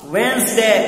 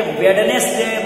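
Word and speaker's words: Wednesday: The names of the days are, दिनों के नाम ये हैं, मंडे यानी सोमवार, ट्यूजडे मंगलवार, वेंसडे, अब ये वेडनेसडे मत पढ़िएगा, यहां डी साइलेंट रहेगा, वेंसडे बुधवार, और इसके बाद में है थर्सडे जुमेरात, फ्राइडे जुमा, सैटरडे शनिचर, संडे इतवार।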